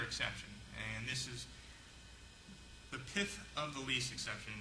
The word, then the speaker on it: pith: Well, there's another exception, and this is the pith of the lease exception. No, I didn't stutter, that's the way it's pronounced, P-I-T-H, pith of the lease, which means